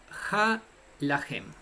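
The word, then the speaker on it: הלחם: El pan en el hebreo se pronuncia ha-lahem y se escribe con estas consonantes: Hei, Lamed, Het, Mem, Mem cerrada.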